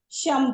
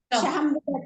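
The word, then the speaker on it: शं: बघणार आहोत त्याच पद्धतीमध्ये या मंत्रांचं शम पहिल्यांदी शम श त्याच्यावर अनुस्वार शम शम शम शम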